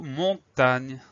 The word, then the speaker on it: montagne: Il s'agit du mot montagne. Alors, ça s'écrit comme ça se prononce, sauf que à la fin, on a le son gne qui va s'écrire G-N-E.